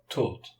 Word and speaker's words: taught: gh's in the past in the past simple GH is silent so we have not